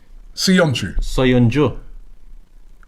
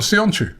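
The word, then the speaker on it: Söyüncü: I know Sionchu. Soyuncu. It's not Sionchu. No, Soyuncu.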